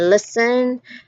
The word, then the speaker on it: listen: Then you've got silent B too in words like dead, doubt, and silent T in listen and often. Though some people do pronounce the T in often, like often, but it's also not pronounced at some with other people.